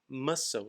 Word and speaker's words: muscle: Então, muscle, lembra? Músculo. Quando a gente vai ler em inglês, M-U-S-C-L-E, não se pronuncia a letra C para ter o sonzinho de k. Muscle, muscle, ok?